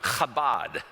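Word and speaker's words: כָּבוֹד: he'd probably tell us, if you say it correctly, you're probably going to get a little spit on the back of the head of the person in front of you. Chabad.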